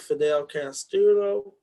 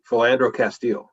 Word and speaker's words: Philando Castile: son and they were having a protest about fidel castillo uh philando said adam philando philando castile right yes oh okay yeah i think so